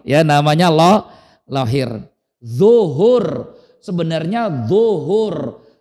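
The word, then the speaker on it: ظهر: Orang kita susah nulis baca d jadinya lahir ya namanya lo lahir zuhur sebenarnya zuhur. D l u h u r. Zuhur. Tapi orang kita susah nyebut zuhur jadinya tuh kan luhur kan.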